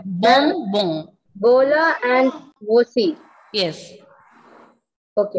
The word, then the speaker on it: bonbon: Nasal sound, okay? Their nasal sound is coming there. Bom, bom.